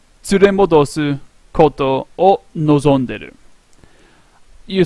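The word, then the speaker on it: こと: kowtows I don't have it in here that's pronounced koto oh it's not a kanji so Colt Oh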